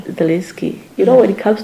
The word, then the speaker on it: Zelensky: Zelensky, is that how I should pronounce it? Yes, it's Zelensky. Zelensky.